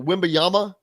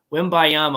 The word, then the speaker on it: Wembanyama: have his name in front of me, so Wembanyama. Yeah, it's something like that. I can never pronounce it. Wembanyama. Bob Kravitz did an excellent job. He's become fluent in that name. Wembanyama, I believe, is how you pronounce it.